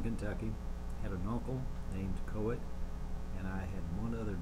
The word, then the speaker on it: Coet: My name is Coet.